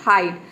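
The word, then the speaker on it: hide: ड हो जाएगा और ई साइलेंट है क्यों क्योंकि वर्ड के अंत में आया है किसी भी वर्ड के अंत में अगर ई आता है तो वहां पे ई लेटर साइलेंट रहता है ई को हम प्रोनाउंस नहीं करते हैं तो ये क्या हो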